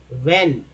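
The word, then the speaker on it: when: डिड not tell him वेन वेन में यह एच जो है दोस्तो यह हमेरा साइलेंट होता है डब्लू वाला कोई भी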